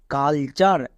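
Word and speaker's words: culture: এল কুল না কিন্তু সি ইউ এল কাল হবে নেক্সট টি ইউ আর ই চার এটা হচ্ছে ওয়ার্ড প্যাটার্ন তাহলে পুরোটা কি দাঁড়ালো কালচার তাহলে দেখলা আমরা টোটালে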